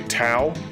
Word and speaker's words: Tao: uh shining force well i guess it's kind of like ouch minus the ch so it would be tau so i guess it would be daus technically i just feel like